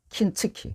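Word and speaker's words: 金継ぎ: 여러분, 우리가 금을 일본은 킨으로 발음해요. 킨츠키.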